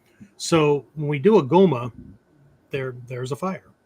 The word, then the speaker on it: Goma: I'll tell you a little thing here about the way the Goma is the Japanese pronunciation of the Indian Homa, Homa, right?